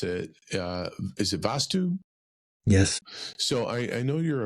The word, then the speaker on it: Vastu: know that you're, and forgive me if I mispronounce it. Is it Vastu?